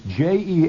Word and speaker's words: Jean: All of you people who think it's spelled Gene, including you, Don. I've been here on this schedule for 115 years, and the IBM machine still spells it Gene on the log. It's Jean, and I would like you to